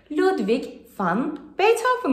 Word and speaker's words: Ludwig van Beethoven: Bestecimizin tam ismi Ludwig van Beethoven. Beethoven Almanya'nın Bonn şehrinde doğduğu için haliyle isim Almanca. Ve Almanca'da B harfini F şeklinde söylüyoruz. İsmin diğer kısımları kolay zaten. Dolayısıyla telaffuz birden havalı hale gelerek Ludwig van Beethoven oluyor.